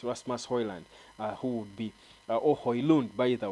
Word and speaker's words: Højlund: we wanted to be sure that it's Rasmus oil and who would be by the way I learned that that is the right pronunciation of according to the dance uh Rasmus